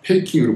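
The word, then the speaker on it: PKiN: 유명한 이 PKNI, 페이킹으로 발음되는 바르샤바의 문화과학 궁전 건물입니다.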